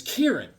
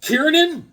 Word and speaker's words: Kieran: His name is Kieran. None of the guys in the garage could say his name right. They're calling Kieran. They're adding ends, all sorts of syllables.